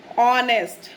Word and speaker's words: honest: जो वर्ड है ऑनेस्ट, इसमें जो H होता है वो साइलेंट है, H जो है वो साइलेंट है। तो अगर हम इस वर्ड को बोलते हैं तो हम कैसे बोलेंगे? ऑनेस्ट, ऑनेस्ट, यानी H की साउंड नहीं आती, हमारी O से स्टार्ट होता है वर्ड।